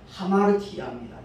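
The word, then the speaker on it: ἁμαρτία: 헬라어 첫 글자가 알파인데 그 알파라는 단어 위에 쉼표 꼬리가 있으면 아로 발음이 되지만 쉼표가 거꾸로 뒤로 이렇게 붙어 있으면 하가 됩니다. 그래서 저기 써놨다시피 하마르티아입니다.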